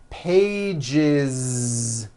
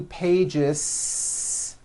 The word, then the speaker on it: pages: One page becomes two pages with that voiced Z. Two pages. It's not two pages, unvoiced, no. It's two pages with a voiced Z.